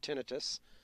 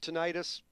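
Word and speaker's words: tinnitus: okay so there's really no real rule I call it tenus okay if you called it tenius either way whatever Alex would have given us both a point there you go okay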